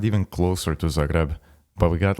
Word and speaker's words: Zagreb: say that again please Z ree is that did I pronounce it wrong I bet yeah Zagreb sure dude how the was I supposed to know that it's like saying it's not Madonia it's macadonia [ __